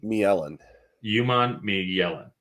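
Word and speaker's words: Princely Umanmielen: help and princely Yan did I pronounce that correct melen yuman melen perfect sure uh double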